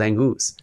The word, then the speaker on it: Angus: We established that's how you say his name. We didn't know for these last couple of years, but he actually likes to be called Angus.